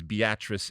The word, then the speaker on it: Beatrice: so there's this place called evidently it's called beatrice spelled beatrice all right and yet they they obviously that's the way it's pronounced is beatrice in this but it's a it's a fascinating